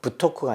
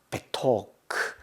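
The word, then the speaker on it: בְּתוֹךְ: 여기도 베라고 하죠. 베토크. 부토크가 아니고 베토크. 크인데 크는 발음이 없고 음가가 없이 그냥 크입니다.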